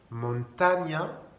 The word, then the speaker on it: montaña: N avec une vague, ça se prononce mieux. C'est comme un GN français. Montaña, montagne.